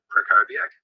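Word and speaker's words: Krakowiak: name hi i'm prakoviak the w is pronounced as a v i'm the founder of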